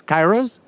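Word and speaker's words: Kairos: i r o s Kyros that's how we pronounce it we have a Greek person in the team so it turns out it's not the proper way to pronounce it in Greek but who cares right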